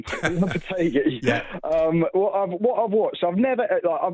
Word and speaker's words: Lopetegui: After Pellegrini, Moyes, Lopetegui, is Potter the man to bring style and substance to West Ham?